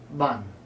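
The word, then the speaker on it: bàn: So the misunderstanding was his voice was going up, ban, and that has a different meaning altogether. So if someone is trying to teach you Vietnamese, don't ask them if you're saying it correctly by making your voice go up. If they say, repeat after me, ban, say, ban. Cái này ban. This is a table.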